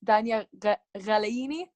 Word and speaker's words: Dania Ghalayini: So today we have Dania Ghalayini, which that's my version of pronouncing her last name. And would you like to say? Well, basically, it's Dania Ghalayini. It's kind of hard to pronounce, so Ghalayini is okay.